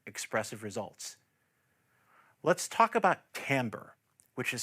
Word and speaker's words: timbre: Let's talk about timbre, which is spelled T-I-M-B-R-E, but pronounced "tamber."